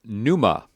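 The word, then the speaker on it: πνεῦμα: muua memory we have Numa so P new this is a pronounceable combination and it's Spirit Wind breath we don't pronounce the P here's ktisis creation so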